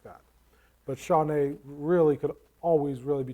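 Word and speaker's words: שָׁנָה: the hebrew word is uh shawnee i think it's pretty i'm probably not pronouncing that completely right but it's like sean nay and it's always translated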